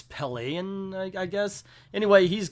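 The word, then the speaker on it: Pellaeon: captain i actually think his name isn't pylon i said it wrong it's pele and i guess anyway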